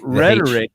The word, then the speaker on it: rhetoric: silent and uh so rhetoric the H is silent well it's the art